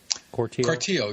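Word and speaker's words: Cortile: Corteil? Corteil, yeah.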